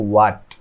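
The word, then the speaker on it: what: এটা হচ্ছে হোয়াট, মানে যখন হচ্ছে ডাব্লিউ এর পরে এইচ থাকে তখন এইচ এর উচ্চারণ হয় না, তখন শুধু ডাব্লিউ এর উচ্চারণ হয়, ডাব্লিউ এর উচ্চারণ হয়।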